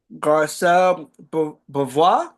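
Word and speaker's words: Garcelle Beauvais: episode the episode uh via Fox Okay uh garcel B that's how you pronounce it short Jame fox show yeah Eddie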